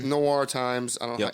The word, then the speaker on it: noir: Robin, it's noir times. I don't know how do you say that? Noir.